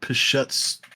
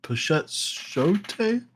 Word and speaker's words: Pichetshote: I believe it's Pornsak Pichets. Oh, no, Pichetshote?